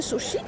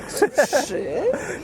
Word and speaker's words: suszy: suszy suszy nie sushi suszy suszy trudn suszę suszy nie suszy Suszy, suszy.